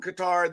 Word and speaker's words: Qatar: And I believe we will have a race in Qatar. And again, it's Qatar. It's not Qatar, you elitist dumb asses. It is Qatar. You ask someone from Qatar, they will tell you it's Qatar. Ugh.